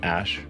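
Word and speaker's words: Æ: Um, and then the AE is like pronounced ash.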